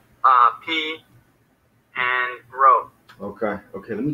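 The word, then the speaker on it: π: Pi. Pi, right? Yeah. So we were going to pronounce it P though, which is easy to remember because it's like our alphabet.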